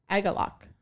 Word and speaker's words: Agalloch: Crips, Primitive Man, Midnight, and then headlining was Agalloch. Yeah, that's how you pronounce it. Sure. Sorry, I heard somebody say it. Oh, really? Like, yeah, I think it's Agalloch.